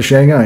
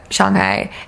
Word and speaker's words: Shanghai: because I went to Shanghai it's actually Shanghai not Shanghai yeah we're not crazy